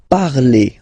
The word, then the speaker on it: parlez: All right, let's see now for vous, vous parlez. Okay, remember a z, when you combine them together, you get the sound e.